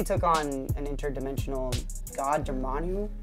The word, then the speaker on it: Dormammu: Doctor Strange has the Time Stone, but he took on an interdimensional god, Dormammu. Is that how you say his name? Dormammu, yeah.